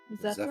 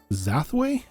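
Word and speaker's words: Zafway: on on this uh zway you said zway it's either is it zfw how how do you spell it Roan it's z z uh zfw z a f w a y yep okay it's zafo with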